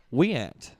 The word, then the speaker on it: Wyant: tul low Second Jason how do you say it way Wyant what we an all right we an Mike greenal or Mick